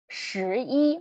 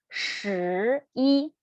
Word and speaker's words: 十一: So here, if you feel difficult to roll your tongue up, so maybe you will pronounce it as 十一. Did you feel the difference between 十一, the correct one, and the wrong one, 十一?